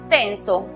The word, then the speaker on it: tense: Con la palabra tenso, que se escribe, vemos que hay E muda al final, precedida de dos consonantes. La vocal que queda toma su sonido cerrado. Entonces la pronunciación es TENS.